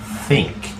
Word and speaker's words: think: pasado y participio thought observen la pronunciación de la th lengua entre los dientes think okay thought I think